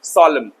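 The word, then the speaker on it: solemn: India छोड़ के America the next word is सोलमन इसको सॉललेमन पढ़ते हैं एन साइलेंट कर दो सोलेमन गंभीर the condition is very very सॉलम।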